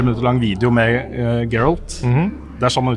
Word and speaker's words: Geralt: En uh, litt sånn tre minutters lang Tre minutter lang video med uh, Geralt. Det er sånn man uttaler det, ikke det? Geralt.